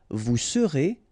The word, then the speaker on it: vous serez: Je serai, tu seras, final S not pronounced, il sera, elle sera, nous serons, final S not pronounced, vous serez, a Z at the end, et serez, ils seront, final T not pronounced, elles seront.